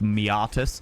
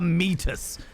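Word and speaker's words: meatus: u s me mus I believe it's officially pronounced miatus but I much prefer measus oh go chew on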